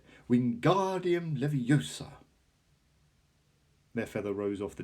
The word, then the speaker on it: Wingardium Leviosa: having much more luck Wingardium Leviosa he shouted waving his long arms like a windmill you're saying it wrong Harry Hermione snapped its Wingardium Leviosa make the GAR nice and long you hear that if